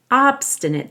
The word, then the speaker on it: obstinate: but Pete's obstinate teeth we stress the first syllable in ah because it has an ate suffix but the a is going to sound like a short I because this is an adjective obstinate teeth refusing to